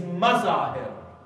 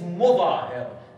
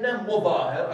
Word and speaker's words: Mudahhir: father of Habib is Mazahir. There is no evidence for that, yes? It is Mudahhir. The correct pronunciation of his name is Habib ibn Mudahhir, according to the majority of our scholars and historians.